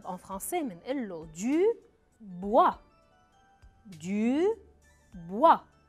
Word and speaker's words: bois: خشب en français منقول له du bois. du bois. bois كمان بيتضمن حرف ما بلفظه، شو أي حرف هو؟ le S بنحطه بآخر الكلمة بس ما بنلفظه أبداً. du bois.